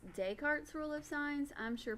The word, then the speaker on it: Descartes: thing we have is de cartes a rule of sign signs up kind of looks like dick discard this rule of signs I've always heard it pronounced Descartes rule of signs I'm